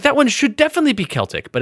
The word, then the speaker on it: Celtic: Celtic it should be Celtic but it's Celtic the word Celtic is pronounced with a hard C unless you're talking about a sports team there's two sports teams